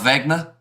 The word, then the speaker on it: Wagner: You know, Wagner is pronounced Wagner.